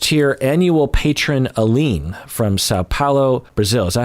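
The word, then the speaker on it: São Paulo: Highest tier annual patron Aline from Sao Paulo, Brazil.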